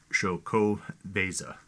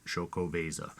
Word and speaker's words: Xocoveza: my forte but is shoko veza um and that doesn't look like it the x is actually pronounced like an sh so if i pronounce that correctly shokovasa uh trace leches um